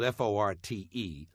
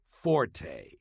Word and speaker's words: forte: silence number one the English word Fort spelled f o r t and meaning specialty or strong point is not pronounced Forte got that it's pronounced Fort the Italian word